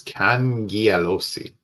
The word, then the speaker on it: Cangialosi: Oh, he says Cangialosi. Cangialosi.